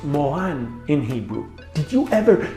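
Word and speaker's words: מורן: it's a type of flower and it's spelled pronounced mohan in hebrew did you ever freak out when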